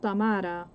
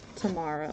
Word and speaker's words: Tamara: My name is pronounced, it's pronounced Tamara, but it's hard for people to say it, so Tamara would be the closest.